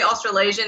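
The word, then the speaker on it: Australasian: it's austral Asian right like it's not it's austral Asian yes that means it encompasses New Zealand hates this but if you say austral Asian it means Australia and New Zealand and they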